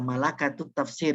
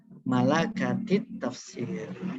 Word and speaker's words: Malakatit Tafsir: Bacanya kalau sebelum ada kata takwinu ya malakatut tafsir ya. Setelah ada kata takwinu jadi malakatit tafsir.